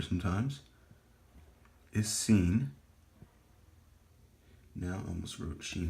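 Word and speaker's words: Sin: I forgot to write the pronunciation of seen is S.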